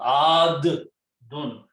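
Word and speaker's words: عادٌّ: So this can be written as adun. Adun. Not dun, ad-dun. You have to pronounce two dals here.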